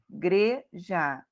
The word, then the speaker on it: igreja: O bem é o mais forte, questão, o tão é a sílaba mais forte, igreja, o gre é o mais forte, precisou, o zou é o mais forte, e lugar, o lugar é mais forte.